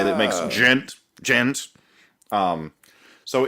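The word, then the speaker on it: djent: How it's gent. Pronounced?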